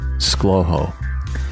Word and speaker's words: ScLoHo: o h o, but it's easier to pronounce just as two syllables, and that's how you get Schlowho.